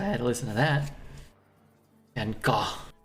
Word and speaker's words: Van Gogh: Van Gogh, it's pronounced. Van Gogh.